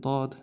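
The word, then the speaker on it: ضاد: And dad just has like one dot on the top.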